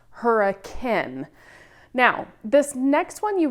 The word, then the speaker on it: Hurricane: that says hurricane, but in Utah, it's actually pronounced hurricane.